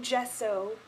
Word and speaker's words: Gesso: Apparently I mispronounced it last time and people freaked out. So I'm taking Gesso, which is the just bright matte true white color from MAC.